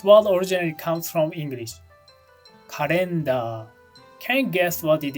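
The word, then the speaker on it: カレンダー: Doesn't the pronunciation sound quite different? Especially the L and the final AR part. Those are quite different from the original English, aren't they?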